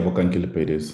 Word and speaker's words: Bokang: Am I pronouncing that right? Yeah, Bokang, that's right.